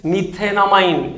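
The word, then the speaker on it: methanamine: क्या से प्रोनाउंस करेंगे, मीथेनामाइन, इट्स प्रोनाउंसिएशन इज मीथेनामाइन।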